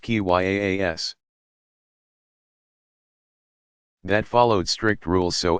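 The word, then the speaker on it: qiyas: apply a form of reasoning by analogy kia's pronounced ki yaa s that followed strict rules so as to keep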